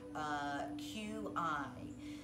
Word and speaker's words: qi: The first thing I'd like to address is the word QI. So QI is pronounced different in many different cultures. And the most commonly pronunciation of QI is qi.